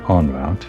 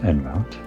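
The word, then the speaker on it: en route: Guess it's actually on route, not N route.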